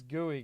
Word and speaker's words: GUI: then chat instead defaults it's gooey guys if you call GUI that's so many syllables local Sky position equals